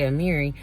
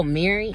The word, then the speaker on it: Amiri: out my name because whenever i say amiri they'd be like oh mary i'd be like uh